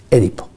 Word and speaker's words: Édipo: porque entre otras cosas, Édipo se debe pronunciar, en mi opinión, Édipo. Bueno, en griego se decía así, Édipo.